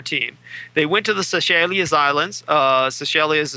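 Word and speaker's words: Seychelles: were a soccer team they went to the selas islands uh Cel is spelled s y c h l l s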